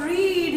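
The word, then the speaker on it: read: the third form of रीड is also the spellings are same but we will pronounce it रेड इन the first form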